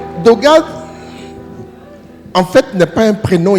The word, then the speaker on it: Dogad: Dogade Dog deux syllabes 5 lettres.